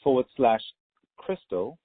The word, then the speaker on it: Christel: Summit, .com, and Summit is SUMMIT, and then /Crystal, and the number 4, and Crystal is spelled CHRISTEL.